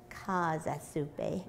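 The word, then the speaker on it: Käsesuppe: And you made a German soup for us last time, which I still remember how to pronounce. Uh-huh. I just want to brag a little. Kasa Suppe.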